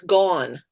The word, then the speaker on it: Gaughen: It's actually much easier to say than that. It's gone, just like gone Gone.